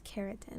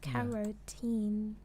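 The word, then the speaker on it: carotene: I don't think it's keratin. It's kerotin.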